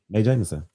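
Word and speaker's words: Mae Jemison: space May Jameson who may Jameson who and may Jameson do you have a guess I mean you're you're mostly right you just said it wrong May Jameson it's not J Json there it is I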